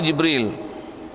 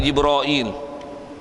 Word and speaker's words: Jibril: Kadang ada tempat sebut Jibril, Jibrail. Mana betul? Jibril ke Jibrail? Tu saya kata budak-budak tadika tak tahu, orang tua pun tak tahu. Masyhur dengan riwayat-riwayat, kalau kita belajar qiraat dan sekalian, memang ada lafaz Jibril, Jabril, Jibrail. Semua lafaz tu datang. Jadi maksudnya betul belaka lah.